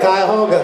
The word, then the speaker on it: Cuyahoga: How do you pronounce it, John? He said it, Cuyahoga.